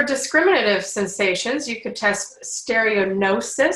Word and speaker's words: stereognosis: For discriminative sensations, you could test stereognosis. So the G is silent.